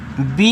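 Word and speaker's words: bay: चलो आगे देखिएगा बी ए वाई, इसको पढ़ेंगे बे, बी ए वाई को बे पढ़ते हैं और वे का मतलब होता है खाड़ी।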